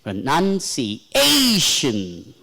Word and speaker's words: pronunciation: Pra is low, feeble. Pronunci. See, none is clearly heard. Whereas pra is very. Pronunciation. A we have to stress. Pronunci. Even if you swallow that, even if you follow pra, no, none is audible. Pronunciation. That's how it should be pronounced.